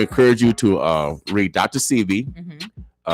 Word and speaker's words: Sebi: What you guys Sebi, how we pronounce it? I always say what doctor I'm talking about. Sebi.